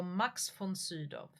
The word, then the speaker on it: Max von Sydow: because the V there, the single V, can be pronounced von like an F or von like a single V. Max von Sydow, I think is so Max von Sydow. Yeah, yeah, it's an F.